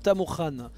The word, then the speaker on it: Tamurkhan: lui-même Tamour KH ou Tamour Khan parce que je rappelle le KH ça se prononce Khan donc Tamour Khan en tant que mais